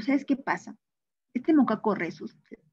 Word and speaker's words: rhesus: Ahora, tú dirás, Missy, ¿por qué hizo con ese mono Moccaco rhesus?